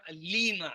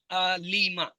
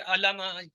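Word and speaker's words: عَلِمَ: عالم، معلوم، علم۔ بس اس کے تلفظ میں یہ رہے علیمہ، لام کے نیچے زیر ہے، زیر کو واضح کرنا ہوتا ہے، علیمہ، اکثر علامہ کہہ دیتے ہیں تو اس پر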